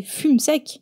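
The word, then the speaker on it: Fumseck: Si on prononce en bon français, c'est Fume sec.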